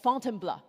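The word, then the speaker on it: Fontainebleau: So after Paris, Paul took me just outside the city to a forest park for called Fontenbl. This is how he taught me to pronounce to try out our mountain filter.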